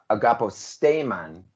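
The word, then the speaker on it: Agapostemon: So agaposteman is how I would say it in Spanish, but you all say agaposteman because you're moving the accent one syllable back.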